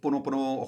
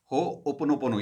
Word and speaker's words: Ho'oponopono: Ho'oponopono. Even I announce it as Ho'oponopono, but it's actually as Ho Pono. Opono. Pono. Pono. So Ho'oponopono.